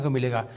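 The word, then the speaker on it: comb: पहला रूल है हमारा बी साइलेंट एम के बाद दोस्तों बी साइलेंट होता है एग्जांपल देखते हैं जैसे ही लिखा हुआ है सी ओ एम बी इसे हम पढ़ेंगे कॉम ना कि इसे पढ़ेंगे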